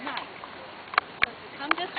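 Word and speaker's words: gneiss: It's spelled G N E I SS for now for nice.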